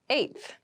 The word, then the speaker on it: eighth: Eighth. Eighth. Eighth. Eighth refers to the number 8 of something. The pronunciation might be a little tricky, so be careful with this one.